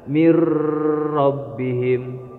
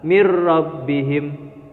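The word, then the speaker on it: من ربهم: segala Ki mirrobbihim milladunka Jadi tidak boleh kalian membacanya dengan cara Miro bihim atau mil ladunka tidak boleh jadi memasukkan tanpa disertai dengan dengung jadi cara badannya adalah mirrobbihim milladunka itu bacaan idghom Bila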